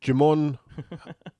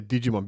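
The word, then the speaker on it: Djimon: Yeah, Jimon Hounsu. Yeah. I always say Digimon because maybe the D is silent.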